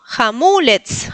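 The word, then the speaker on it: hamulec: Hamulets. Hamulets. La segunda sílaba del acento y la recuerden que la c se pronuncia como tz, como en las muñecas brats.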